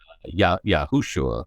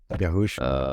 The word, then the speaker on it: Yahushua: Yahushua. Yahushua.